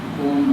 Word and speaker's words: ओम: सा उनका उच्चारण करिए उच्चारण करने के पहले तीन अक्षर है ी लेट ओ अ प्लस ओ अ उ और य तीन बोलने से ओम बनता है और उसी अनुपात